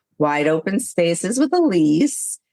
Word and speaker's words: Ilise: and it's Wide Open Spaces with Elise. Elise is spelled different. It's I L I S E.